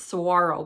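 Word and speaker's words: saguaro: Um it the G is silent. It's sarro blossom for anybody who has trouble trouble pronouncing that.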